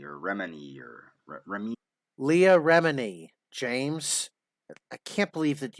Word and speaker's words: Leah Remini: about how it's dangerous and deadly because um leah romney or remini or remy leah remini james i can't believe that you would mispronounce an easy name like that leah remini